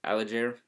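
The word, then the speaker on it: Allgeier: quarter um tyler allen alager is how you say it had a 42-yard touchdown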